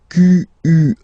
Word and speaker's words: quel: Quel, masculine form here, will be pronounced exactly as the feminine form here. Quel. So only one sound, okay?